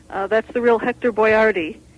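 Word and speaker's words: Boiardi: that's the real Hector boardi he spelled his name b o i a r d i and uh they just decided to spell it as boy r d so people could pronounce it right um but he he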